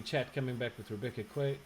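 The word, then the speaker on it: Guay: I Okay, so we've got lots of people in chat coming back with Rebecca Quay. How do you pronounce that? think it's Gay. G-U-A-Y? Gay? Rebecca Gay? Yeah, just Rebecca Gay.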